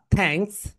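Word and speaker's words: thanks: এই দুইটা যখন আমরা উচ্চারণ করব তখন আমাদের দুইটা দাঁত রয়েছে, রাইট, উপরের সারি এবং নিচের সারি। দুইটা দাঁতের এরকম মাঝখানে আমাদের জিহ্বাটা যাবে।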